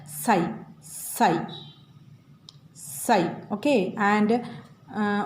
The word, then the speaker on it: psi: is denoted by psi how to read this psi p x i then p is silent okay this p is silent and we read as psi psi psi okay and